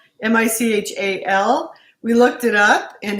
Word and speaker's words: Michal: her name is spelled m-i-c-h-a-l we looked it up in hebrews not michelle or mikhail mahel it sounds like michelle so anyway that's who